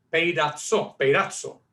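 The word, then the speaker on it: πειράζω: La palabra en griego se pronuncia peirazzo en español.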